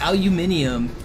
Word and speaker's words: aluminium: Well, aluminum is actually spelled differently in like Europe compared to America. So, aluminium is the correct spelling and pronunciation if you're British. There's that extra letter in there that does change the pronunciation.